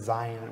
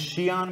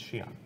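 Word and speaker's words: Xi'an: It's Shion, by the way. It's also Idris. Or Sean. So, no, it's Shion.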